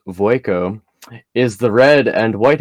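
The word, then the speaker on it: Vueko: confused here's a quick breakdown verico AKA Waco pronounced voico is the red and white haired woman with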